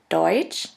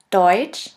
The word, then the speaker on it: Deutsch: The next letter combination is TSCH, TSCH, which is simply pronounced like a CH in English. Here we have the example of the word Deutsch, Deutsch, which means German, and of the word